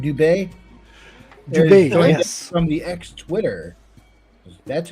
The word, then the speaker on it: Dubé: Ryan Dubé, am I pronouncing that right? Dubé? Dubé, yes.